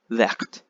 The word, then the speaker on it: verte: Okay, and then the feminine is you have to put an extra E. The pronunciation becomes vert. You say the T, vert.